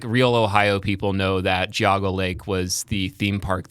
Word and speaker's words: Geauga: Oh, Geauga. You said Geauga. Okay. Yes. Yeah. Like real Ohio people know that Geauga Lake was the theme park that everybody went